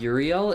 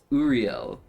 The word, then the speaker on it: Uriel: I think it's not Uriel, it's Uriel.